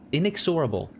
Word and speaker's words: inexorable: Inex inexorable there. I don't I've heard that word many times before. I don't think I've ever seen it written. Inexorable. Inexorable. In inexorable. Yep, that's the way you to pronounce it.